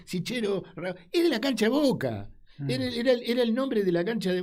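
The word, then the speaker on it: Cichero: Y fíjate que cuenta que el doctor, dice el doctor, en italiano se pronuncia Chiquero, pero es Sichero, es de la cancha de Boca.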